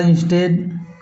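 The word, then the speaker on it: instead: उसी प्रकार इंस्टेड इंस्टेड इसमें भी देखिए ये साइलेंट है स्प्रेड स्प्रेड इसमें भी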